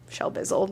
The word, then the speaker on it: Shelbizleee: is Shelby this is my channel Shel Bizzle that's how you say it this is Katherine Kellogg